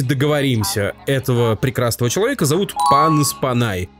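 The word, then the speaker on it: Panos Panay: этого прекрасного человека зовут панос панай он греческого происхождения его предки с острова Крит поэтому ударение именно такое панос Windows 11 преобразилась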